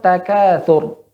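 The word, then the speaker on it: التكاثر: Kemudian pada kalimat takatsur, ya ro di sini hukumnya apa Bu Popi? Tebal atau tipis? Tebal. Ya, tebal ya. Tadi membacanya nanggung ya. Takatsur, sur, ya.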